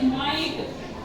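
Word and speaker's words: might: बोला है जी एच को हमने यहां पर साइलेंट छोड़ दिया है जैसे माइट एम आई जीी एचटी यहां पर इसको बोलेंगे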